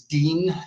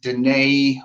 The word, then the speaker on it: Dene: elephant in the room my name is Dean it is not Danae or Gainey or muff Roberta which I get often it's spelled de but